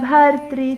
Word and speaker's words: bhartri: Bhartri, that r sound, the R, we would say with a dot below it, is a vowel really. It's what you have in Krishna. It is a R vowel, but sounds like Ri in North Indian pronunciation.